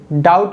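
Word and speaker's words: doubt: आप कंफर्म कैसे करोगे कि जो लेटर बी है डाउट में साइलेंट है?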